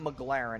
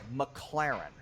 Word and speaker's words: McLaren: part pisses me off because he says the name wrong like eight times in a row it's not McLaren it's McLaren okay so that's how we know this guy